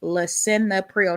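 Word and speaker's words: Lisinopril: Uh pronunciation is Lea Prio.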